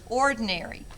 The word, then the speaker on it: ordinary: again here's the word ordinary o r d i n a r y it is an adjective which is a describing word it has four syllables or de okay here's